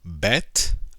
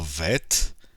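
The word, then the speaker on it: ב: letter Alif the next letter is the letter bet or vet and the block letters the only difference is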